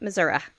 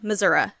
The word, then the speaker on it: Missouri: Correctional Center in Mineral Point, Missouri. Now I said it right, y'all. Missouri. It's not Missouri. It's Missouri. Okay, so friends of Jackie's, what they said they missed most about her was her smile, friendship.